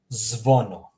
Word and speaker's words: zvono: Oh, the second example here, zvono. Zvono, meaning bell. Zvono. Notice how I'm just smashing all the letters together.